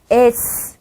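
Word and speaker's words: С: 저씨 그런데 러시아에서 음료 이게 바로 읽어 볼게요 s 입니다 신기하죠 에 네 시 옷에 가까운 발음이 납니다 시 옷보다는 요 쌍씩 옷에 가까운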